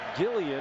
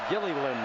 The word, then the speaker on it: Gilliland: family name is pronounced Gilliland. That L at the end is pronounced.